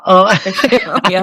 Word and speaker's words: Oceania: We have members worldwide, so active regions in UK, Ireland, Americas, Oceania. How do you say that? I think I've just said that wrong. Oceania? Oceania.